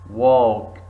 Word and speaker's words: walk: five why why number six walk walk L silent seven castle castle T